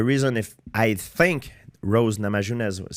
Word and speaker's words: Namajunas: Rose Namajunas? How do you say her? Rose Namajunas, yeah.